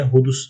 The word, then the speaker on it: hudus: Elkındi tarafından ortaya konulan delile hudus delili diyoruz. Hudus şuradaki S arkadaşlar, şuradaki S Arapçada peltek olarak telaffuz ediliyor.